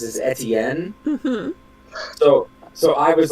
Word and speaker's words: Etienne: I know your name is Etienne, but Etne. every time I actually. hear your name, I can't not think of Auntie Anne's pretzels. Well, it's actually Etne.